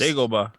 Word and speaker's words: Dagobah: I think I even saw them say a name wrong. It's just Dagobah.